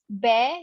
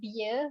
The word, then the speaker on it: bear: correct the pronunciation um you pronounce it as bear not beer beer is a alcoholic drink so you pronounce it's